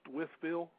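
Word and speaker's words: Wytheville: for as just so you know that's actually pronounced with Bill okay that is exactly where he is and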